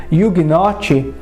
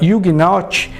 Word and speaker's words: Ugnaught: Por outro lado, a pronúncia da palavra Ugnaught é muito parecida com Juggernaut, que em linhas gerais significa uma força imparável.